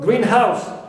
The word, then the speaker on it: greenhouse: The same thing for greenhouse, as one word, as you see here, one compound noun, stress the first, but a greenhouse, any house which is green, noun phrase, I stress house, not green.